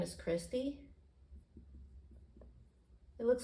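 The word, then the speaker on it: cristae: The inner membrane's name is Christie. It looks like Christe, and some people say Christe, but it's actually pronounced Christie because in science, AE makes the E sound.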